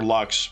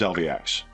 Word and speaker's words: LVX: It is a point of frustration for her that Hector doesn't get the name right ever. He keeps calling her Lux. Her name's LVX.